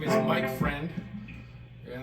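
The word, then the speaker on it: Freund: well hello friends uh my name is Mike Friend yeah that's how you pronounce my last name it's f reu n d it's Geral word for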